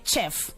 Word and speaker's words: chef: this before where we have their graphs eh pronouncing us sound so they'll say chef please I'm a chef chef and the last